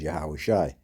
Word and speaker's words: Yahawashi: calls Jesus Christ but his true name in The Paleo Hebrew is yahawashi that's how you say his name right it says uh